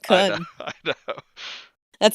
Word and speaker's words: Kun: What, you mean by saying coon? I always pronounced it just how it was spelled, Kun.